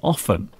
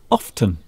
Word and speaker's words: often: Well, I say often, and Mr. Steve says often. Steve says often. I say often. Often. So for me, the T is silent.